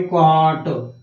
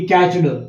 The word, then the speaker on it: caught: और इसका दूसरा फॉर्म है वो है कॉट, नॉट की कैच्ड, CAUGHT।